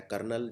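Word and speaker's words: colonel: हैं अगला होता है कर्नल जो आर्मी में कर्नल होता है इसको लिखने का तरीका बिल्कुल अलग है इसको हम लिखते हैं कॉलोनल तो इसमें एक वैसे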